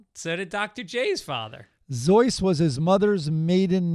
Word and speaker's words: Seuss: a bonus how did he and his family pronounce their last name last name sues nope zoy were they German uh sus is how people pronounce it zo is the